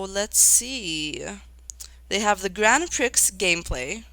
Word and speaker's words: Grand Prix: Mario Kart World Grand Prix gameplay. Nintendo Treehouse Live. I think I pronounced it Prix earlier, because that's how it's spelled. But, it's Grand Prix.